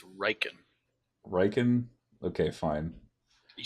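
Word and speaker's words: Rieekan: So Where is General Raikin in all of this madness? God, please say his name right. It's Riken.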